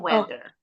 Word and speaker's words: weather: Ini bacanya rolling. A-nya enggak bunyi. Yuk, Gibran give it a try. The weather. Bacanya weather. The weather is so bad and the thunder is roaring loudly.